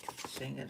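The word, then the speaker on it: Shigidi: who rules heaven associated with the Son Shangadai Shangadai that's how you say it.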